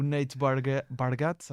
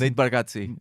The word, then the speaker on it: Nate Bargatze: que eu confirmei, o Nate Bargatze, acho que é assim. Nate Bargatze. Bargatze? Sim. Ok, tem a pronúncia, um toque italiano, meio italiano.